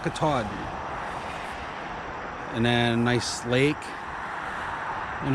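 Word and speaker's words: Katahdin: it is Mount cadan how do you say it kadan Kaden yes Mount Caden and then nice Lake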